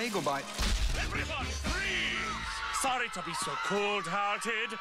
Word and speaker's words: Fries: It's freeze, but you spell it fries like French fries. Weird. It's German.